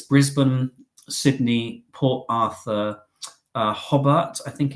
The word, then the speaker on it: Hobart: I've got plans, ideas, places I want to see, but essentially it's Brisbane, Sydney, Port Arthur, Hobart, I think it's pronounced, which is in Tasmania, and Melbourne as well.